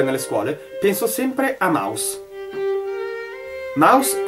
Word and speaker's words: Maus: stato pubblicato dai naudi mouse vuol dire Topo ma la parola non è inglese è tedesca stessa pronuncia ma spelling differente il fumetto ha avuto